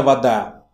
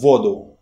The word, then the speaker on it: вода: Это вода. Положи это в воду. Put this into water. As you see, the stress here moved from the last syllable to the first.